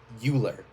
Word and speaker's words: Euler: a key concept and it's spelled euler but it's actually euler wheeler's identity and what makes this